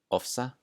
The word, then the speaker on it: ofsa: All right, the next rule, when it sounds like the letter F, is before the letters K, S, and T. So I have some examples here. The word aftur, aftur, which means again, ofsa, ofsa, and oft, oft.